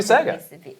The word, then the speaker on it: Sega: I'm mis I got to do the right uh pronunciation of Sega. Sega. I gotta do it right next time. It's not It's really Sega.